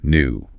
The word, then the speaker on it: new: Feel that little J sound sneaking in for the British version. Duty, tune, new.